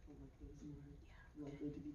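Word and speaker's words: Alecto: Electo I feel like Electo is more likely to be pronounced correctly. Electo. Electo's correct.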